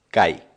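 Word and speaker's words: kaj: esperanto estás interesa la conexión gramatical y es cai en esperando que se deletrea acá a jota la jota en esperanto se pronuncia como una y el esperanto es interesante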